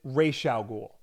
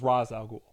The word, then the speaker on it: Ra's al Ghul: And they pronounce it Ra's al Ghul. And like that's the way most people pronounce it up until the Nolan movies where it was Ra's al Ghul.